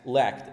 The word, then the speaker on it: lacked: Next, lacked. Again, ed is pronounced as te. It's lacked.